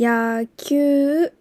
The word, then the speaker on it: 野球: 野球。野球。この 5尾のうはしっかり発音しなくて大丈夫です。 5尾のウは前の文字を伸ばすイメージです。